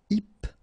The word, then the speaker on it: hypnotique: Remember, at the end, QE, K, tic. So H is not pronounced. Hypnotique.